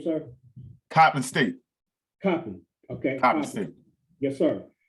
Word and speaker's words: Coppin: Is that how you pronounce his name, sir? Coppin State. Coppin.